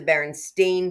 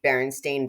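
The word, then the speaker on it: Berenstain: Now, they're the Baron Stain Bears with an A. Although, I think we pronounced it Baronstein Bears, but we knew there was an E.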